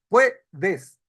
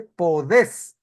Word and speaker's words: podés: Pero, ¿cómo pronuncia un argentino? Pronuncia y un y un argentino pronuncia y escribe, dice Podés. No dice puedes, dice Podés. Es un le hace el acento agudo y al terminar en ese rompe la tendencia natural.